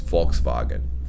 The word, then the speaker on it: Volkswagen: german you know but if you say right it's volkswagen volkswagen just gotta flip i just it's oh man the pronunciation it's it's all it always throws me off i'm like we're spelled with an f and v instead exactly the the v is a f and the w is a v and that's actually very